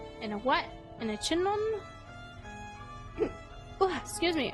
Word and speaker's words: chignon: In a chignon? Oh, excuse me. I'm thinking it's like a filet mignon. Just the G is silent.